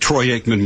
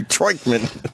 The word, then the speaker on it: Troy Aikman: Wasn't a big jinx that Troy Aikman was doing the game, the former Cowboy. I think Troy was a queer. Uh-oh. But he gets his name wrong, Troikman.